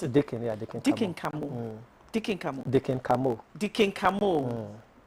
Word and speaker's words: Deacon Khamoh: Did I pronounce it? Deacon, yeah, Deacon Khamoh.